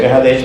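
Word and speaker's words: Kedesh: Oeste, es Kahadesh, que se pronuncia Kahadesh, pero se escribe Kedes, muy bien.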